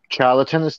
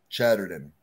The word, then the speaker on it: Chatterton: Rita Charlton, am I pronouncing that right? Chatterton. Chatterton, my mistake.